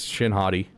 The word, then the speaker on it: Shin Hati: I mean, you pronounce her name Hati. So yeah, it's Shin Hati.